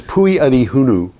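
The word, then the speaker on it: Pwy ydy hwnnw: Pui is P-W-Y, Adi is Y-D-Y, and Hunu is H-W-N-N-W.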